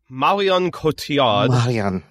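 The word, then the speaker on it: Marion Cotillard: to look this up so i knew i pronounced it right and marian kotiad from the dark knight rises those are some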